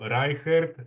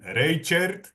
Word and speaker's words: Reichert: Me llamo Reichert. En México, mi apellido pronunciaban Reichert.